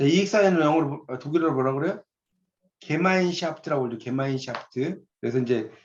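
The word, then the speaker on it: Gemeinschaft: 자, 거기 가로 안에 이렇게 써놓은 게 이제 이게 발음이 어떻게 되면 게마인샤프트라고 있습니다. 게마인샤프트라고 써놓으세요. 이게 의미. 게마인샤프트가 바로 독일어예요. 독일어. 영어가 아니에요.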